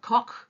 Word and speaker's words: Koch: His name is Robert Koch, to pronounce it correctly.